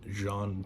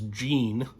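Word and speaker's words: Jean Tannen: that's lock lamora and John Tannen um who hilariously I pronounced as Gene the first time I read it before I had listened to the audiobooks and it is John uh speaking of the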